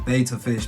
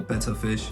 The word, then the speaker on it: betta: ah and over here we have the beta fish man or betta fish however you want to pronounce it now the thing is